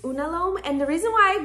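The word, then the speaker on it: unalome: time I did know what I want it's pronounced unalom and the reason why I got this tattoo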